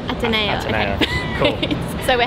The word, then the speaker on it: Ateneo: How do I pronounce the university? Ateneo. Ateneo.